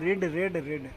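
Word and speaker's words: read: ठीक है, जो हमारा V1 होता है वो रीड होता है, V2 भी रीड होता है, V2 रेड होता है, और V3 भी रेड होता है। स्पेलिंग सेम होते हैं बट पढ़ते कैसे हैं, रीड रेड रेड ऐसे पढ़ते हैं।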